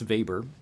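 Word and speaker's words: Weber: also wrot in economics Max vber and vber is spelled with a W uh the protest ethic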